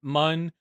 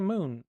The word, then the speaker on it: Mun: I pronounce it mun cuz moon is with two O's. Like, give me a break here. But if you want to say moon, that's all right with me.